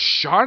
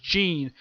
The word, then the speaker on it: Jean: they refer to as Sean in this series, which is a little weird. His name is pronounced Jean, and yet he's commonly referred to as Sean the whole series, which I'm like, that's a little weird.